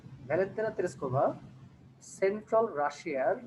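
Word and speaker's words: Russia: টুতায়েভস্কি district in central রাশিয়া। এই শব্দটাকে আমরা একটু মিসপ্রোনাউন্স করে থাকি, এটা ইউজুয়ালি আমরা বলে থাকি যে রাশিয়া। রাশিয়া না বলে আমরা বলবো রাশা, রাইট, ঠিক আছে।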